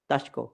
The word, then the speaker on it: Daszko: do I pronounce it Daszko? Daszko, yes.